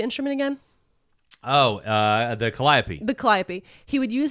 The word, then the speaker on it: calliope: you say the instrument again oh uh the calliope the calliope he would use his Calliope as